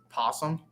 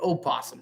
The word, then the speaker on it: possum: I know I'm saying it wrong, people. Before you just belittle me in the comments or just ring me out, it is possum, but opossum sounds even better.